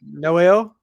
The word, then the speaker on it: Noelle: say it was no how'd you say it Noel uh-huh yep perfect my last name I